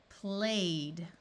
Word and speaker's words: played: AY says A. Played, prayed. OY says oi, toyed. Again, if the word ends in any of these sounds, ED is going to be pronounced as D.